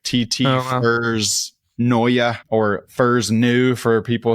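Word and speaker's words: Neue: No, Elvetica Noya. TT Furs Noya.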